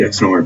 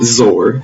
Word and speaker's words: XOR: which i'll label here this is pronounced xor not zor like some people say that is wrong x stands for exclusive